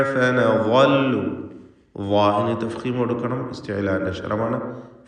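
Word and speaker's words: فنظل: ഫനളു, ഇവിടെ തൻവീനും ശേഷം ഫാഉമാണ്. ഇഖ്ഫാ ഹഖീഖി നൽകി മറച്ചു മണിച്ചു ഉച്ചരിക്കണം. തൻവീനിനെ മണിച്ചുകൊണ്ട് അവ്യക്തമാക്കി ഉച്ചരിക്കുക. ഫനളു, വാഹിന് തഫ്ഖീം കൊടുക്കണം, ഇസ്തിഅലാഇൻ്റെ അക്ഷരമാണ്.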